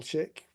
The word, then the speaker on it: Shick: loud, and I suddenly had a moment of mispronunciation panic as I said it. Is it Shick?